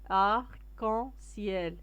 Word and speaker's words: arc-en-ciel: l'arc-en-ciel هو قوس قزح, arc-en-ciel كتقرا كاينه لا ليزون, كتقرا مشروكه, arc-en-ciel هو قوس قزح.